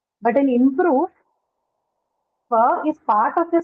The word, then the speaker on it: improve: So just like inspire, again in improve, the stress is on the second syllable because both of them are verbs, right?